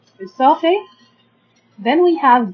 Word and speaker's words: esophagus: We can divide these words into 4 syllables. First we have a, then we have o, f. As we said that ph makes the sound f. So we have a, sof, and then we have a,